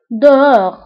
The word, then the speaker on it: dehors: ضدها خارج أو dehors. Dehors. أيضا, dedans أو dehors. كنكتبوها بأس آخر الكلمة ولكن لا تنطق.